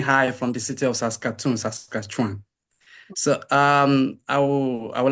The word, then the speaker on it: Saskatchewan: Can you please help me with the pronunciation of that name? University of Saskatchewan. Okay, University of Saskatchewan.